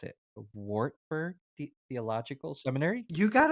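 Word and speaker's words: Wartburg: for a master's program at and I'm gonna mispronounce it wartberg the Theological Seminary you got it perfect that's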